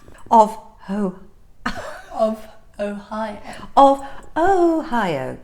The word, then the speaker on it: Ohio: who of Ohio of Ohio so yes it's not a y o a while Ohio I think I was